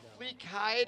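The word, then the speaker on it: Flikeid: I hope I'm It's either Fleek Hide or Ke. I pronounce it Kide. It's F L I K E I D.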